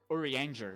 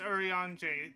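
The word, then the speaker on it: Urianger: about it just said orer like Ranger when it's actually pronounced Oran the um the r at the end of his name is not pronounced yep it's kind like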